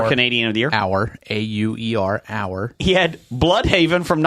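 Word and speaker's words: Auer: Hour.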